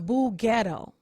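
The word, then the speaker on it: boughetto: i'm not ottawa ghetto i'm boo ghetto i'm going to spell that for you b o u g h e t t o am more bourgeoisie than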